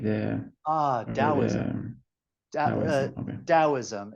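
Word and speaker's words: Taoism: like the ah DM dosm it's spelled with a t but it's pronounced with a D sound but t a o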